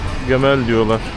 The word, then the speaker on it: Gamal: Vì họ không phát âm được chữ "C", nên họ nói "Gemel Gemel".